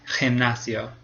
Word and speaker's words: gimnasio: And if it comes before an E or an I, then it says J, like gimnasio.